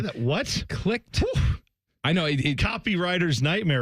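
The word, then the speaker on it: Clict: Except this is spelled C-L-I-C-T. Clicked. Huh? Say that. What? Clicked.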